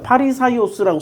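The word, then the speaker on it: Φαρισαῖος: 그런데 바리새라는 말도 얘네들이 한문으로 발음을 할 수가 없으니까 바리새라고 쓴 거야. 파리사이오스라고 써야 돼. 파리사이오스.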